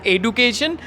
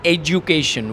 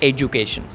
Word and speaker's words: education: which is education all right so many people pronounce this word as education but if you find its pronunciation on Oxford or if you Google it you uh get the proper pronunciation which is education whenever D puts between two vowels it sounds